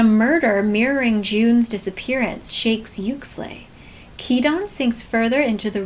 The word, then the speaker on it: Uxlay: Oh, she pronounced it. Hold on. This book takes place in is called Yuxley University. Yuxley.